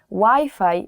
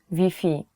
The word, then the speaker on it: Wi-Fi: will not understand you so you have to change the wifi pronunciation even though the word is the same the spelling is the same you have to change wi-fi to vp so if you're looking